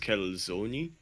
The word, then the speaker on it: calzone: some people call it say it's actually pronounced calzoni according to italy and i'm like sure